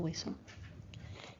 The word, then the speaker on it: hueso: Remember that we do not pronounce that H, so it'll just be el hueso.